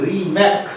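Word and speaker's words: Remak: রিমার্ক বলে একজন বিজ্ঞানী, রিম্যাক উচ্চারণ করলে দাঁড়ায়, তিনি সর্বপ্রথম হচ্ছে এই কোষ বিভাজনটা প্রত্যক্ষ করেন।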